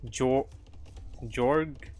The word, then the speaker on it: jorge: It's JORPG, so it's Jorg.